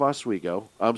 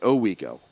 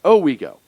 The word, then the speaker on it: Owego: The text on the monument reads, Town of Oswego, Owego. I pronounced it wrong. Owego.